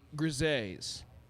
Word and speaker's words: Gris: Uh I did go talk to the grises and it is pronounced gris.